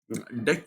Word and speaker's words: deque: पहली बात इसको प्रोनाउंस किया जाता है डेक double ended क्यू डी